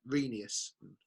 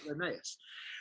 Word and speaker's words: Rheneas: that engines name and he was like reneus cause it's not Emmaus reneus all reneus as they're